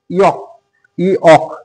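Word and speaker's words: yolk: ওয়াই ও এল কে ইক এখানে এল এর কিন্তু উচ্চারণ হবে না এটার অর্থ হচ্ছে ডিমের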